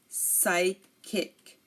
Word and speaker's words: psychic: pseudo science psychiatrist psychiatrist psychic psychic and psychology psychology again pseudoscience psychiatrist psychic and psychology here you notice that we did not pronounce the P because it came before an us now if a word